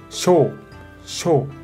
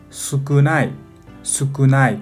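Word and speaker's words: 少: Onyomi pronuncia sho, sho. Kunyomi pronuncia con la ayuda de hiragana más sukunai, sukunai como la palabra de adjetivo, ¿no?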